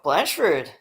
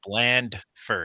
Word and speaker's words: Blandford: It's bland first. You got to pronounce the D.